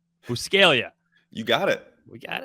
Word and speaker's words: Buscaglia: a stupid Italian spelling there's a silent G in there like I I get embarrassed about like oh so you say it piscaglia right no actually I